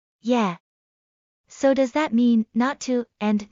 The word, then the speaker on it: not to: So does that mean not to and not are pronounced the same? Not exactly. In not to, the t in not practically disappears and the following to is pronounced relatively strongly.